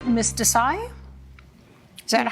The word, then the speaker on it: Desai: Miss Desai? Is that Yes, how I Your pronounce Honor.